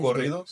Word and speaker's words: corridos: Corridos. Corridos. It's Yeah. like if you say cocoon, Cocoon. like corridos. Corridos. Yeah, you just roll that. Drah. Corrido. Yeah, corridos. Corrido. There you Corridos.